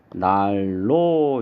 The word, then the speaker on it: 난로: 4번 난로 같은 경우에는 니은하고 리을하고 만나서 앞에 있는 니은이 뒤에 유음의 영향을 받아서 리을로 이렇게 바뀝니다. 그래서 발음을 하면 날로 이렇게 발음이 되겠죠.